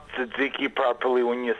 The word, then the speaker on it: Tzatziki: And by the way, you did pronounce Tzatziki properly when you said it.